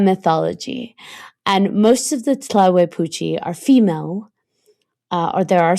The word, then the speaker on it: Tlahuelpuchi: Tlahuepuchi. So the Tlahuepuchi, and I'm going to spell it for you because I know you want to look it up.